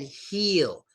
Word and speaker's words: heel: When you're making that E sound, you kind of want to smile and make a higher pitch voice and like tilt your head up a little bit. I feel good. My heel is great. But with Phil and hill, less stress, head down, deeper voice. Deeper, like deep voice.